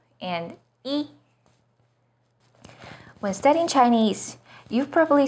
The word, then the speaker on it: 一: When 不 is followed by a non-fourth tone, which are the first, second, and third tones, it's pronounced as the fourth tone, as in 不知道, 不行, 不好. When 一 is used as a number, it's the first flat tone, as in 一二三四, 第一, 一号线.